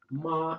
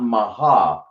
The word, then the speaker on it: mah: So it's not maha, it's ma.